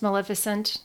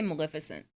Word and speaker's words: Maleficent: Did you want to talk about Angelina's, how do you pronounce Maleficent? Did I pronounce it right? Yeah, I say Maleficent.